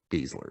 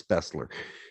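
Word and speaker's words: Besler: Of course, we always made fun of his name because the way it's spelled, it's not Beasler, it's Bessler. Anyhow, in German it is.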